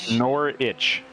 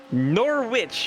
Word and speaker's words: Norwich: goes kingsbury yes norwich city more rich nor nor itch nor witch just in time for halloween looks like